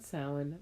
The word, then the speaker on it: Samhain: And it says up top, a Gaelic word pronounced Samhain, which translates to summer's end.